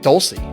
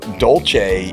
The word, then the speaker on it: Dolce: And real quick, side note, I growing up it I knew you as Mike Doulsece. Yeah. What? Why? What happened? So Dolce is the accurate pronunciation of my father's last name.